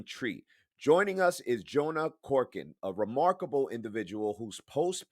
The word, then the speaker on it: Korchin: glad to be here it's Jonah Corin just FY it's okay don't worry about it but that's how you say my last name got it got it